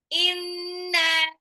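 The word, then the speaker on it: إِنَّا: Jadi bacanya bukan inna atau inakal kautsar fasoleh rabbika wanhar. Nah, no, salah. Kalau bacanya begitu, nanti artinya juga bisa salah. Bacanya nunnya di tasjid, jadi gunnah. Dan kebetulan nunnya itu sudah mad tabi'i bertemu dengan alif, jadi lebih panjang lagi dia.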